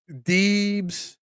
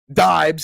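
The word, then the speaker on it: Diebs: I've been called Deebs my entire life, but that's not how it's pronounced. Oh, okay. Deibs is how it's pronounced. Deibs because D-I-E. But see, the thing is, in German, D-I is pronounced D because the letter I in German is pronounced E.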